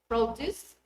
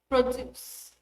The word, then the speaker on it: produce: The noun is stressed on the first syllable. The verb is on the second. For examples, project, project, produce, produce, record, record.